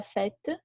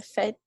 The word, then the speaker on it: fête: Então, a mesma pronúncia, fête de festa e fête de fazer, a mesma pronúncia.